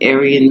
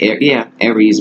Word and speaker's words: Aries: This is the Aryan male. Not Aryan, but Aries male. I'll say it like that.